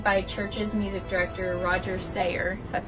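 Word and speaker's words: Sayer: Harrison Oregon played by Church's music director Roger seer that's how you say his name he later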